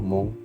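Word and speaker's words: Hmong: at saka ethnically siyang Mon Tama ba yung bigkas ko mon hm o g Mon Okay galing siya sa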